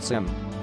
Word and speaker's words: SIEM: SIEM is an acronym for Security Information and Event Management and is pronounced SIM.